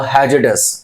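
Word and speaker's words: hazardous: साथ में आर तो आर को साइलेंट करके बोलो तो क्या होगा हैज डस आर साइलेंट हो गया हैज डस तो हैज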